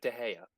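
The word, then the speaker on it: de Gea: reason is it Onana yeah but no David de Haya oh it's not laughs it's my understanding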